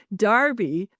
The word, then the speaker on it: Derby: It's spelled Derby. So, Darby, u we found a space that looks amazing.